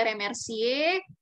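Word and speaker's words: remercier: kemudian mengucapkan terima kasih ada remercie e3r nya juga tidak bunyikan ada di akhir er yang di akhir tidak bunyi kemudian ada memperkenalkan diri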